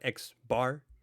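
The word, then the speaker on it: x̄: an x with the line on top we pronounce that x bar that's a sample mean a lowercase p with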